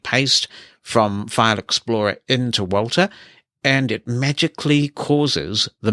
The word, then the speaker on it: WALTR: You can use Walter for your media management needs. It's spelled WALTR, and that works on Mac and Windows. And it's not intuitively accessible, but it's usable. When you install Walter, what you can do